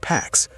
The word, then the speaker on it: P4x: He adopts a pseudonym, P4x, pronounced Pax, a cheeky reference to enforcing peace through punishment.